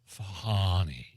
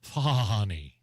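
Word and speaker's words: Fani: district attorney Fanny Willis fny you said it wrong no I said it right no no no no it's fny no Donald Trump even at his rallies would say funny it's Fanny F thank you it's like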